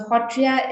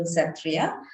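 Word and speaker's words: Sattriya: about hotria dance so hotrya is this is how we pronounce it in uh uh assam in smes uh which gets translated in english into satria but is a dance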